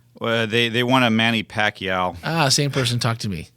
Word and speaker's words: Pacquiao: I'm like, I literally typed in, how do you pronounce Manny? And I'm like, whatever the last name Pacquiao. is. Pacquiao.